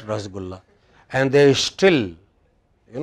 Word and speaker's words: rasgulla: yeah right you know it is rashogullah no it's not rasgulla and there is still